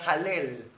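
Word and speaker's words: הלל: es exaltación a Elohim alabanza en hebreo se pronuncia halel halel de ahí viene la palabra Aleluya Aleluya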